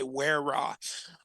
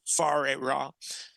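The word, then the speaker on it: Whare Ra: lot of people say weah but because it's in the Aboriginal language in New Zealand it's the wh is pronounced like an F like as in food so okay far ra and uh yeah that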